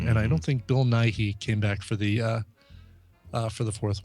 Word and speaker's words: Nighy: Bill Nighy. I mean, because you don't pronounce it Nighy.